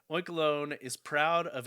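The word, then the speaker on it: Oinkologne: Oinkalone, yeah, I'm definitely going with that pronunciation because it is a combination of oink and cologne.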